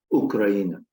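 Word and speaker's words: Україна: And you see that these two, first of all, they're both pronounced the same way. They both are pronounced Ukraina.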